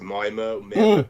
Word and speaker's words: Myanmar: How do you pronounce it? Myanmar.